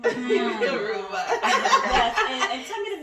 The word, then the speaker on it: Huruma: Huruma.